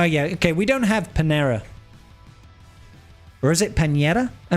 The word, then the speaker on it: Panera: Panera. you uncultured So it's not pinera. It's panera. Panera.